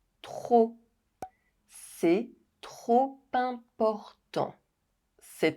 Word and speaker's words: trop important: C'est trop important. C'est trop important.